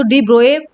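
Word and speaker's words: de Broglie: बच्चों डी ब्रोगले कई लोग प्रोनाउंस करते हैं और कई लोग इसको डी ब्रोए प्रोनाउंस करते हैं।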